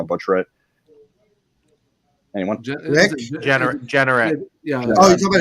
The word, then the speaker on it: Jeanneret: As Rick, how do you pronounce his last name? I don't want to butcher it. Anyone? Rick? Jeanneret.